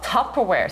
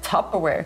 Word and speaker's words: Tupperware: «It's a flashback!» Es ist ein Tupperware mit «A». Ihr habt es «A» in eurer Sprache. Tupperware. Sagt einfach Tupperware.